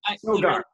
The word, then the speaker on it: Sogar: Sogar, I said it right. Sogar.